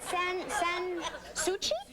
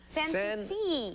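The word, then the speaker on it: Sans Souci: Is that San Suchi? San Suci. See, if we don't spell it phonetically, what happens Then to I you?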